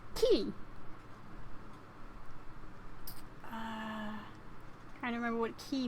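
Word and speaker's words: き: You pronounce it as ki.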